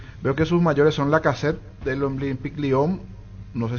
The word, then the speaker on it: Lacazette: Veo que sus mayores son Lacazette del Olympique Lyon. No sé si así se pronuncia. Alexandre Lacazette. Sí, Lacazette.